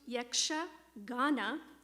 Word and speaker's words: Yakshagana: and a very special treat so yaksagana it's pronounced yaksha ghana which has the little meaning of celestial singing